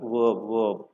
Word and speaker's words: verb: VRB verb, not verb kaadu, verb. The simple rule here is, whenever you come across R plus any consonant, make this letter R silent.